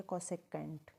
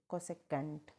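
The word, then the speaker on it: cosecant: तो sec theta का क्या पढ़ा जाएगा, सेकेंड। क्या पढ़ा जाएगा, सेकेंड। और ऐसे ही आपका कोसेक थीटा को क्या बोलेंगे, कोसेकेंट। कोसेकेंट, है ना।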